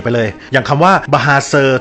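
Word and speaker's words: bahasa: เป็น ภาษา คาราโอเกะ ไป เลย อย่าง คำ ว่า บาเซอ ที่ แปล ว่า ภาษา ใน ภาษา มลายู เนี่ย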